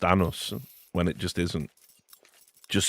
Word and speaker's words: Anders: It's just cuz, you know, like the Danish pronunci pronunciation is different enough that, you know, when people say and does like with the with the D that it it is a little bit different, but obviously it's not name isn't anus.